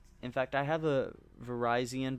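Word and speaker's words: Virizion: In fact, I have a Verizon, because yes, that's how you say it. It is pronounced like Verizon. Verizon, I have that sitting cuties.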